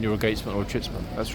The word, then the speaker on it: chitsman: And that question is, what is a chitsman? Okay, let me spell it.